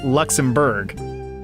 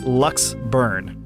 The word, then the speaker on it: Luxembourg: pause right there cuz we've said it wrong every single time because it's not like Luxembourg right it's Lux burn let's burn lux burn all right I haven't